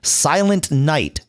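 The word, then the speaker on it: Silent Knight: a much easier way silent night with a silent K there you go silent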